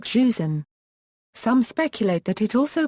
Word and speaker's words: Joseon: In contemporaneous Chinese records, it was written as Eoe, which is pronounced in modern Korean as Joseon.